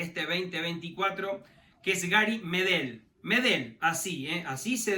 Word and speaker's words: Medel: que precisar su apellido nada de Gary medel no no lleva acento en la primera e sino Gary medel sin tilde así hay que pronunciarlo Bueno finalmente llegó Después